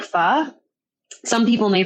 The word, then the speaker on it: pho: So I started searching and I was like, do you like pho? Some people may pronounce it pho, P-H-O, basically Vietnamese soup.